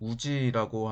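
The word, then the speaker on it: 氏: 불교를 장려했다라고 하는데, 이거는 일본어로 발음으로는 우지라고 하는데, 당시 지배층들, 천황과 주변에 있는 일부 지배층들에게 주어진 성씨입니다.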